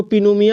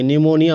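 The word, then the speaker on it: pneumonia: एन ई यू एम ओ एन आई इसको पिनोम नहीं बोलेंगे निमोनिया बोलेंगे पी एस ए एल एम इसको पासम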